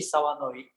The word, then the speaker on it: Sawanoi: So I'm Sawanoi. It's a kind of hard to pronounce it. The last name, it's very rare Japanese name, but the American friend told me it sounds like so annoying.